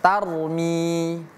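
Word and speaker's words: ترمي: 2 3 innaha tarmi Rnya merupakan huruf tebal tar. Jadi jangan sampai kita baca tar. Oke. Jangan sampai kita baca tar ya. Jadi bacanya ro tar tarmi.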